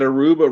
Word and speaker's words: Aruba: don't even know that aruba rhymes with tuba i don't even never